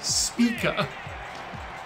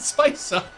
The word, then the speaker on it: Spica: my hunch was correct our name isn't spica it's spica like speaker yeah yeah amp and